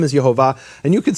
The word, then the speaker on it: Yehovah: But once I asked the question, I was able to find a rabbi within 30 seconds who unequivocally said the name was Yehovah.